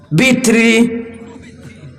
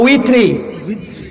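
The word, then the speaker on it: وتر: আল্লাহ জোরের কসম খাইলাম, ওয়াল ওয়াতর আমি আল্লাহ উইতিরের কসম খাইলাম। উইতির বলতে বেজুর, উইতির বুঝেন? উইতির, উইতির বুঝেন? উইত্র ওয়াও তে ওয়াও তারা, ওয়াও লাম জবর ওয়াল, ওয়াও তা জবর ওয়াত, রা জের রি, বিত্রি না উইত্রি, তে বিতির কস করে, বিতর কস করে, বিতরের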